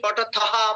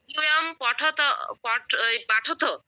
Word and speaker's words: পঠথ: হ্যাঁ, ইউয়ম পাঠথ পাঠ নয়, পঠথ।